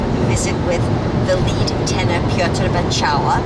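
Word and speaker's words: Piotr Beczała: And we got to go backstage and visit with the lead tenor Piotr Bacała, that's how you pronounce his name in Polish, who greeted us very wonderfully.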